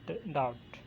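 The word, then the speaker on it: doubt: Authentication, dictionary in द डाउट। Example, और इसमें silent letter कौन सा है? एच। इसी तरह मुख्तलिफ यहाँ पे दिए हुए हैं, देखें। जैसे सेकंड पे है डाउट, इसका बी।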